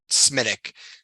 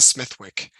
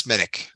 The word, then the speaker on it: Smithwick: know Generations at a bar you have to pronounce it smithic like at Coleman's they're like what are you talking about what's a Smith Wick and you're like it's smittic yeah well you could say that A Smith